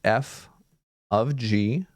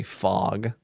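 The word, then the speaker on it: f∘g: of people will say fog because it's an open circle looks like an o but it is it's an open circle in the middle so it's not actually like writing fog it's more like it's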